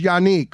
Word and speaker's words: Yannick: He just pronounced it Yannick, which is there, but I thought it was Yannick. Who's got it right? I mean, it doesn't matter either or. I'm used to both. But which is correct? Yeah. Unique is the proper way to say Unique is it.